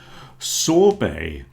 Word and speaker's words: sorbet: lot of cases, but one thing we all agree on is we don't pronounce the T.